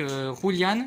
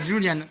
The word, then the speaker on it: Julian: Donc voilà, et puis on est avec Roulian, ici présent. Non, Julian Void. Hoche. Voilà, Julian. Je sais pas pourquoi je prononce Roulian.